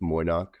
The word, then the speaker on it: Moy'noq: Yeah, we say it phonetically. It's just Moy'noq.